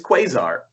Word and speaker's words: Quasar: on the list i don't know how to pronounce it it's quasar quasar yeah i've never had to say it i've only had to read it quizar someone's never traveled through space he didn't yeah